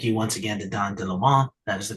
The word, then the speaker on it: Leaumont: Thank you once again to Don Leaumont. That is the correct pronunciation of his name.